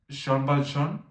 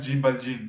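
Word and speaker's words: Jean Valjean: Y hace poco me enteré que, bueno, uno de los protagonistas Sean Bal Sh, algo así se llama, yo le decía Jin Bal Jin, lo cual nada que ver.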